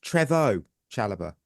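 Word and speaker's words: Chalobah: power rankings Trevor Chala which I have learned he's pronounced Trevor Chala not Trevor that says enough about me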